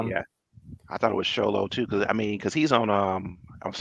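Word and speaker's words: Xolo: But I thought I think it's pronounced Cholo, like it's almost Cholo, but it's like shh. Yeah, I thought it was Sholo too, because he's on what's it called, the Karate Kid, Cobra Kai.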